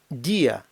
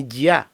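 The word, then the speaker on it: día: буквою і ставиться наголос наприклад Діа день не дія Бо якби ми не розбили дифтонга не поставили наголос над буквою і було б дія а потрібно дія тому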